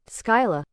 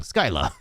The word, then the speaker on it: Scylla: Skyla. Skyla, never mind. Yeah, I was saying it wrong. Skyla.